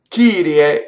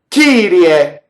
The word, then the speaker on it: Kyrie: But the Kyrie is like a G, right? So if you did Kyrie, you see how strong that K is, and it's unvoiced. It's unmistakably K, but it's not, doesn't have that puff of air to it.